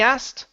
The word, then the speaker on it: asked: to that word the the reason why we say that is because we hate pronouncing the K okay just as much as you guys hate it we hate it even more so we take out the K okay and so it's he asked okay so don't try and pronounce that asked because it takes too much time um one of the